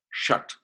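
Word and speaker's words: षट्: S-H-A-T, Shat. It's pronounced Shat.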